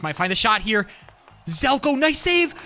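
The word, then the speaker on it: Zelco: I gotta start saying Zelko. I keep on saying Sezlo, but it's Zelko. Zelko. Look at that. I think the C is silent. It's Zelko. Z-E-L-C-O. Zelko. All right.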